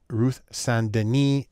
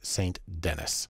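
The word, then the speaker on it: Ruth St. Denis: American modern dance and even though her name looks like it should be pronounced Ruth sandini she's American so it's saint-denis the first thing we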